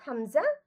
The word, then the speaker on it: হামজা: যেমন এটা পড়বো হামজা, এটা পড়বো হা, হামজা আর হ্যাঁ। হা। এটাই হ্যাঁ। কি আসলে যে হালকা কাশি দেওয়ার মতো করে এই দুইটা আমরা উচ্চারণ করবো, হালকা কাশি দেওয়ার মতো।